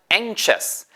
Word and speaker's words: anxious: 바로 a 셨어요 주의하세요 이 발음이 2호 anxious 에서 사전 찾아보면 k 발음이 있는데 그렇다고 에 잉크 하고 k 소리 다음에 의 를 집어 넣으시면 안되서 실제 들리는 마르면 k 가 사전에 있지만 에 잉크 소스 가 아니구요 그냥 ncis 그렇다고 앵 셔츠는 아니에요 엔카 고